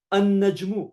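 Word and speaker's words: النجم: You don't pronounce the lam, you pronounce the tanween in the first letter of the word, like ash-shamsu. So najmun, a star. An-najmu, the star.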